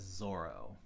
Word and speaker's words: Zoro: I believe it's written as Zollo, but I believe everyone pronounces it as Zoro, with Z-O single R-O, not to be confused with the Spanish Z-O-R-R-O, which is an amazing swordsman of Black Mask fame.